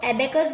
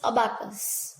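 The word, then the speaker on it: abacus: यहाँ पे प्रोनाउंसिएशन इसको एबेकस भी बोल सकते हैं, अबाकस भी बोल सकते हैं. सब लोग अलग अलग प्रोनाउंस करते हैं, बट the real is अबाकस.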